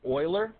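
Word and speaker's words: Euler: the man who discovered it his name is Oiler and you spell it like this and they just used the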